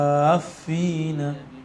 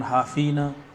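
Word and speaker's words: حافّين: Wa taral malaikata haffina, gitu ya. Jangan hafina, haffina min haul arsh.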